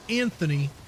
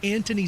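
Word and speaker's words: Antony: I'm hoping to get to see that I think it's pronounced Anthony. It's not Anthony. It's Anthony Starr, the guy who plays Homelander in The Boys.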